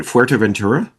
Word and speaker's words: Fuerteventura: Fuerteventura?